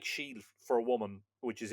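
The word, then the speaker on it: sídhe: Now that word is spelled in middle Irish s i father d like father for your non-Irish viewers would be like an axon, you know, in in French. uh she it looks like sid with a a father on the eye, but it's pronounced she like she for a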